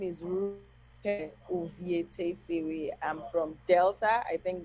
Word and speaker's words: Rukevwe Uvietesivwi: My name is Rukevwe Uvietesivwi. I'm from Delta. I think that's why Mayowa found it very difficult to pronounce the name.